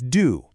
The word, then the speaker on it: du: For you, it's du, just like do.